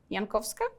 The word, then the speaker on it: Jankowska: Um, I'm and uh if you would ever like to pronounce my surname, it happens sometimes then I choose this version. It's like Yankovska uh whenever you need it.